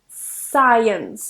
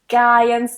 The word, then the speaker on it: science: scissors fascinate and science don't pronounce that C science not ions or skins I hear that a lot remove that cut it's just uh sir science number six is castle